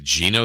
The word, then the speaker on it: Geno: Geno Smith, I pronounce it Geno.